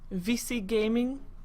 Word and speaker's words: Vici: how you say it vc gaming that's how you pronounce this this says vc gaming